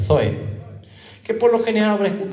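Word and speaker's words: ζωή: La palabra griega vida aquí se traduce como la vida zoe, que la habrá escuchado usted, se escribe con Z, zoe.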